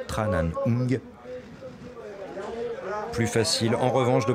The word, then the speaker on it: Tran Anh: suis moqué de lui persuadé que l'on disait Tran à nioumi mais il avait raison c'est bien tranan plus facile en revanche